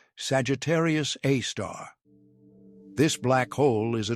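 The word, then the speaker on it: Sagittarius A*: It is named Sagittarius A, pronounced Sagittarius A star.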